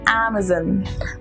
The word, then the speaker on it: Amazon: as Amazon maison but it's actually Amazon is then not zon but son okay it's not porn but earn it Amazon and this is ABS own okay so make it a soft one son and leave it